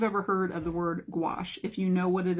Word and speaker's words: gouache: This word today is the word gouache. And I'm going to spell it for you. It is Gouache. Gouache. I think it's French. I think it is a French word.